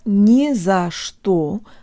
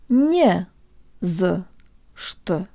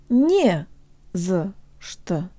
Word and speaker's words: не за что: You can make the za and что syllables sound Russian by making them much shorter and by using schwa vowels for both the a and the o.